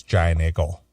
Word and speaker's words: Giant Eagle: the the Pittsburgh area, you got to say it like they the natives down there say it. It's Giant Eagle. Giant Eagle? Eagle. It's like I G G L E.